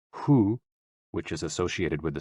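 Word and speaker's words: 呼: associated with the kidneys h-o-o pronounced like who which is associated with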